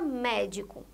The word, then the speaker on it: médico: Olha aqui, a palavra médico. Médico, a sílaba tônica é a primeira sílaba, o mé, médico.